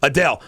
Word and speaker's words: Adele: Now, how do you pronounce her name? Because she won some awards. Adele.